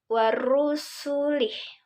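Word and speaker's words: ورسله: Jadi contohnya warusulih. Waru. Nah, tebal di ru-nya.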